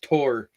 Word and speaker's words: Thor: names wrong by them I think Thor is actually pronounced tor yeah something along those